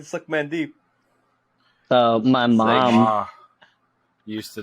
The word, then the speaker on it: Sukmandeep: His name is Suckman Deep. Like, that is a real fucking name. It's spelled SUKMANDEEP. So Suckman Deep.